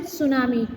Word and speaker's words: tsunami: A tsunami, we will pronounce it tsunami. T would be silent.